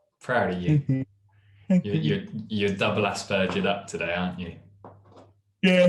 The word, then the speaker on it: Asperger: But Americans tend to call it Aspergers, as in burger made out of an ass. Asperger. The British English pronunciation is more Aspergers with a softer G.